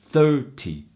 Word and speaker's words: thirty: 13 13 second syllable when you're dealing with the tens number the syllable stress is in the beginning first syllable so for example 30 30 so clearly the